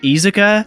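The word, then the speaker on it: Iizuka: pre-release there was a Mazuka interview that was like uh uh which by the way I hear that it's pronounced izuka but I don't know if I'll ever say it like that so um he was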